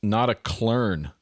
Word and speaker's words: Notaklön: Pronounced Notaklön, Jim Guitar is saying.